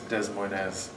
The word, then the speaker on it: Des Moines: Yes, Des Moines. Is that the Iowan saying? Is it the pronunciation? Yes, it's the proper French pronunciation. It's Des Moines.